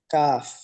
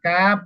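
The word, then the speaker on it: كاف: কা এটাও শেষে কিন্তু ফা কাফ যখন শেষ করব উচ্চারণ করব তখন ফা আসতে হবে কাফ কাফ কাফ কাফ কাফ কাফ কাফ কাফ লম্বা করেন কাফ কাফ জ বলেন কাফ বলেন কাফ বলে দেখেন আমার মুখের দিকে দেখেন কাফ বলে মুখ থামা যাবে না মুখটা খোলা রাখতে হবে যেন বাতাসটা বের হতে পারে কাফ জি ভাই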